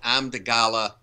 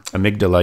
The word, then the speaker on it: amygdala: And there's a thing in the back of the children's brain called an amygdala, and I know I'm pronouncing it wrong. Amygdala, yeah.